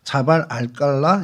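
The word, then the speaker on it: جبل القلعة: 어 암만 시타데리라는 이제 그쪽 말로는 안만 시타데리라고 자발 알칼라 이렇게 이제 발음을 합니다.이 시타텔이 이제 요새라는 뜻입니다.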